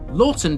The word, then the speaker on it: Laughton: Lorton derives from the old English leakon meaning vegetable